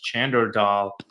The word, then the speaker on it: Chander Dhal: My name is Chander Dhal, commonly pronounced as Chander Dal.